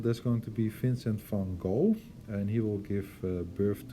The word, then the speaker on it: Van Gogh: So Vincent van Gogh, or actually his real name is Van Gogh, because he is Dutch, comes from the same country as I do, and that's how we pronounce his last name, Van Gogh.